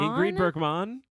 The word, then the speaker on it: Ingrid Bergman: Ingrid Bergman. That's probably how you say it in Swedish.